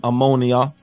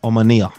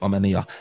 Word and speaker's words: Omonia: game Manchester United versus I was calling them ammonia uh but it's omania that's the proper pronunciation so look we're gonna get it right today omania look Manchester United made a meal out of